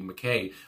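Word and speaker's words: Mackay: And it goes on, Andy, I want to say McKay, I think that's how you say it, not Mackie, McKay, on oboe and saxophone here.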